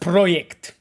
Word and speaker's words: Projekt: It's pronounced Projekt, Korpiok said.